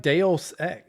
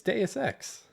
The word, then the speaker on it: Deus Ex: You were like Deus Ex. It's Deus Ex.